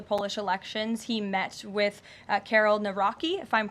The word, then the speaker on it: Karol: He met with Karol Nawrocki, if I'm pronouncing that correctly.